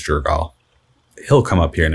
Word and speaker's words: Jergal: previous god of death nergal jerk i always remember his name wrong i think it's jergal he'll come up here